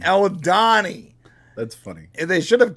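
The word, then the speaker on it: Aldhani: 1 episode 4 titled aldohani I can't pronounce it what's it it's Al Donny aldani that's funny they should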